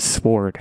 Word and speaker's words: sword: those levels of support when I said sword before I said sword I don't know if you guys heard that I I pronounced the W and I have regrets